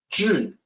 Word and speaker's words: 至: 至, the first character, is tricky, difficult for a native English speaker to pronounce correctly. 至, there's not an exact equivalent in English. So the best I can do is the DZI that you see here.